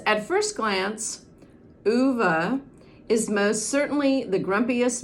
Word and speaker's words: Ove: that it is pronounced uva and that's probably because this man the author frederick backman is from sweden and i believe that is a swedish name uva a man called